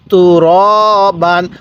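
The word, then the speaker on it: تُرَابًا: তুরবান কিভাবে শিখবো তুরবান অনেকেই আমরা এখানে একটা ভুল করে থাকি সেটি হলো আমরা তুরা পড়ি ঠিক আছে র খারা জবর রা পড়ি যদি র খারা জবর রা পড়ি তাহলে কিন্তু আমাদের পড়াটা সহি শুদ্ধ হবে না তাহলে কিভাবে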